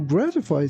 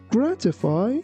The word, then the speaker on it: gratify: Although you can pronounce this word like gratify, in US pronunciation, it's better to say gratify.